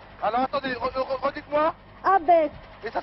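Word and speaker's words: Abbès: Alors, il faudra aller à un hameau de Tozeur qui est sur la carte, qui s'appelle Abès. Alors, attendez, redites-moi. Abès. Et ça s'écrit comment?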